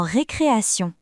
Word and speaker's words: récréation: Comme dans récréation.